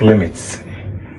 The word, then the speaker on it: lim: But this the full spelling of limits. But when you are writing it you write it as lame. Is that okay? But you don't pronounce it as lame but rather limit.